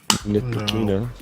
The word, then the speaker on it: Ntilikina: Ntilikina.